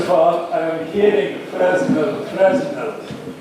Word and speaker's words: Fresnel: First of all, I am hearing Fresnel. Fresnel, he was French, and the pronunciation is Fresnel.